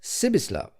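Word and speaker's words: Přibislav: The while he with whom Hans Castov spoke was called hip privislav hip. The peculiarity of this given name was that you were to pronounce it as though it was spelled Cislava, and the singularity of the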